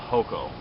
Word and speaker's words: hoko: over here to the other end and I mispronounced this earlier it's actually called hoko This is a knife that was actually found